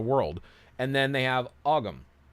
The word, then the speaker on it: Ogham: And then they have Ogham, or Om, depending on who you want to ask how it's pronounced, which are the Celtic, like their line runes, basically.